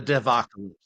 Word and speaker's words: devocalypse: How do you say that? Yeah, like apocalypse of Apocalypse. developers, the devocalypse.